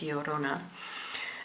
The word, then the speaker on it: Llorona: Mexican folklore I mean it's double l o r o n a so I think that's pronounced like the Spanish yorona um the Five of